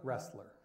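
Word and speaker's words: Roessler: Russ, is that pronounced? Wrestler? Wrestler.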